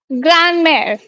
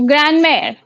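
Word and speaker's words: grand-mère: It's called ग्रैंड मेर। ठीक है। ग्रैंड मेर, ऐसे बोलेंगे आप, ग्रैंड मेर।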